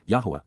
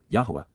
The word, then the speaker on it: Yahowah: Cal imperative Yahwa Yahwa the proper pronunciation of the name of Eloha God as directed in his Torah teaching regarding his high